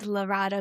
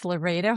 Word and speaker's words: Larada: The way that I tell people to know it is think of Laredo, Texas, and then just put an A on the end of it.